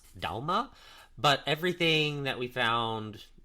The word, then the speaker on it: Dagmar: is so in Danish that would actually be pronounced Dalma but everything that we found with english- speaking people they pronounce it Dagmar so we're going to stick with that but